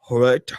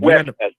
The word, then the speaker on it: Huerta: I was trying to find someone who can tell me how to pronounce Dolores Huerta, Heurta. Do you Huerta.